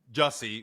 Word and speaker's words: Jussie: So, Jesse Jesse rhymes with Hussie Smilelette.